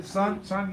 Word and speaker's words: Sungay: David, you're in the Sungay. yes. Did I say that right? Did I say it right? Yeah. Sungay? Okay, good. Because I can mix up names like nobody's business. No, you got it.